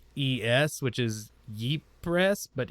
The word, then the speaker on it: Ypres: Ypres. It's spelled Ypres, which is Ypres, but it's Ypres.